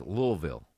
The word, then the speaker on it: Louisville: Now that's pronounced Louisville. That's how the locals pronounce it.